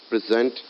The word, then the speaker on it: present: so in both so present and present are the same uh uh like have the same spellings but they're pronounced differently when uh dealing them as a noun or as a verb so in sentence structure